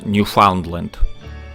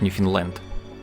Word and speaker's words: Newfoundland: По-русски, конечно, правильно Ньюфаундленд. Но в настоящее время в Канаде название провинции произносится как Ньюфаундленд.